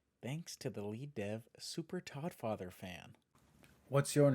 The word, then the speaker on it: Super Toddfather Fan: Thanks to the lead dev, Super Toddfather fan. What's your name? Can you spell it? SUPERDTODDFATHERFAN. The D is silent.